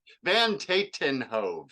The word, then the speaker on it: Van Tatenhove: It's Van Tatenhove, so it's like Van, and then like Sharon Tate, and then the number 10, and then Hove, which rhymes with cove.